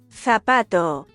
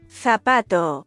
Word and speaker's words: zapato: Zawsze wymawiamy je jak s. Na przykład zapato, zapato, zapato, cerveza, cerveza, cerveza, cinco, cinco, cinco.